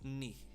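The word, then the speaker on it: 二: yeah it's basically just if you know how to say me as in like your kneecap it's the same pronunciation uh basically knee knee it's just a little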